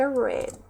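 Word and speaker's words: read: will we will have o verbo ler em inglês irrita e seu participe red que se escreve igual né só mudam mesmo a pronúncia então aí will have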